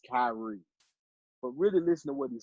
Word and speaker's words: Kyrie: so no I don't again I know it's Kyrie I know it's Carly I know it's Kyrie but really listening wasn't saying enough I can